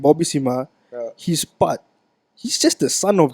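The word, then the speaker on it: Simha: But the thing is, Bobby Sima, a guy who is able to be actually. How do you say his name? Bobby Sharma. Sima. Sima. S-I-M. Sharma is who? I don't know. Bobby know. Sima.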